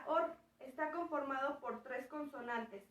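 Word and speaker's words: אור: último termina con álex se lee de derecha a izquierda y se pronuncia org está conformado por tres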